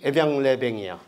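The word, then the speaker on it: Évian-les-Bains: 나섰다는 것이 그게 유명해지고 에비앙이 이 동네 이름이 에비앙-레뱅이야. 이런 거 묵음이야 다 이런 거네.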